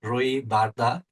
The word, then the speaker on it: Roy Barda: cyber security and I have with me Roy Barda or as he would pronounce his name Roy Barda.